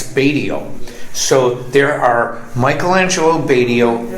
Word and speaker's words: Batio: was a Michael and my my um English pronunciation of my last name is not Batio it's badio so there are Michelangelo badio Impostors on Facebook